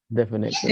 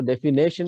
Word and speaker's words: definition: और अक्सर क्या होता है इसको डेफिनेशन बोलते हैं हमारे टीचर्स भी हमारे स्टूडेंट्स भी और लिखते भी उसका स्पेलिंग डेफिनेशन. इसमें कोई नेशन नहीं है, कोई नेशनल चीज नहीं है इसमें. You don't have to be patriotic here. कोई नेशन नहीं इसमें बोला जा रहा है.